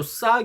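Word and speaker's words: ثاء: 요 싸 경우에는 발음이 영어의 thank you 할 때처럼 번데기 발음이죠. thank you 할 때 혀가 양 이 사이로 나와서 내는 발음. 싸 이런 식으로요. 그래서 발음부호는 th 발음. 그리고 또 써보면은 어중형은 이렇게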